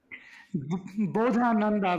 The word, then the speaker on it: Bodhananda: how do you how do you say that bodhananda which is b o d h a n